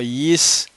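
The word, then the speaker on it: יִשָּׂשכָר: Y no es Yisashar, sino Yisahar.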